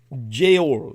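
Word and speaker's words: geōl: over the O um Jail uh in Old English word referring to Christmas uh but the G is pronounced like a y um now going further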